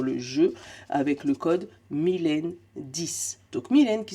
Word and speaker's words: Milaine: Tu vas pouvoir avoir 10% de réduction sur le jeu avec le code Mylène10. Donc, Mylène qui s'écrit M-I-L-A-I-N-E. Oui, oui, c'est mon vrai prénom. La moitié de la laine, c'est moi-même.